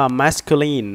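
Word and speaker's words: masculine: ตอบ มา นะ ครับ คำ นี้ อ่าน ว่า มาสคิวลีน นะ ครับ มาสกรีน ตัว นี้ นะ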